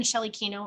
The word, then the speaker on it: Shelley Kenow: on facebook instagram youtube linkedin just type in shelley kino into any of those locations there's a slightly